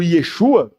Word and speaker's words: Yeshua: falamos Jesus embora sim na pronúncia do aramaico ou do hebraico o correto fosse o Yeshua Deus quis registrar e